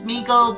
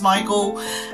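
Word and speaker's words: Sméagol: Some people look at it and think it's Smeagol, but it's actually pronounced Smeagol.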